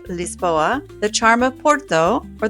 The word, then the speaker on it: Lisboa: Whether you love the energy of Lisbon, or as the locals say, Lispoa, the charm of Porto, or the relaxed vibes of the Algarva, there's a perfect spot for everyone.